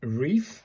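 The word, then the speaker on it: れ: Pronounced like the re in reef. So, it's a re in it.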